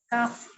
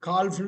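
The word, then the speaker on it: calf: கண்ணுக்குட்டி கண்ணுக்குட்டி தான் இது காப் காப் காப் காப் இந்த கால்ப்ன்னு சொல்லக்கூடாது காப் சிங்கக்குட்டி புலிக்குட்டி கூட அவங்க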